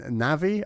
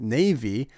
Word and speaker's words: Navi: potpourri uh and then navi i used to pronounce it navy but this was obviously incorrect and has since been